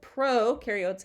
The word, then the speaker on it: prokaryotes: can remember this because pro rhymes with no so prokaryotes have no nucleus or